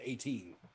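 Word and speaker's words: A'TIN: It's A apostrophe TIN, but you pronounce it 18.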